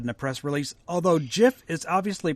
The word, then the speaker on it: GIF: get decade-long debate uh-huh both gifts and the peanut butter are pronounced jiff got it so let